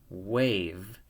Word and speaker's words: wave: Okay, now I'm going to read this word, W-A-V, wave. And I read it wave because the E is silent and it changes the A to an A. Wave.